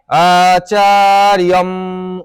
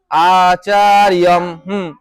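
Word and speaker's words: আচার্যম্: আচার্যম উপসঙ্গময় আচার্যম আচারম আচার আচার আচার আচার আচার্যমর আসবে অন্তরের উপরে কি আছে একটা আছে রেফের উচ্চারণ কি রড আসতে হবে না আচার্যম আচার্যম আচার্যম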